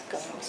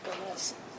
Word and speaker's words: Gomes: It's good to know it's Gomes and not Gomez.